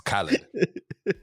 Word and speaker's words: Khaled: but i like dj you say his name wrong i always say his name like i don't know why it's khalid the pogba's up